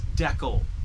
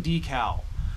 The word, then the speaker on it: decal: It's Deckel. That's the way I say it. That's the way people in Canada say it. Suck it. I'm not saying decal.